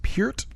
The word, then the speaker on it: Peart: I've been corrected that it is pronounced Peart.